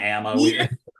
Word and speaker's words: Ama: F fat F we it's like Amma amama I go with Amma because our owner Rudy Shriner says Amma Waterway so I go with